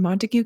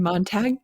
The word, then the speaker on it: Montague: And then in 1886, Richard bought 53 acres from WD and Isabella Davis in Montigue County. Actually, it's in Montag County, Texas. Isn't that how you say it?